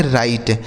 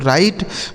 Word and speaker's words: write: से हो जाता है, देखिए यहाँ W साइलेंट है, इसको नहीं पढ़ा जाएगा, इसे हम पढ़ेंगे राइट। RI से हो गया राई और TE से ट, इसे पढ़ा जाएगा दोस्तों राइट।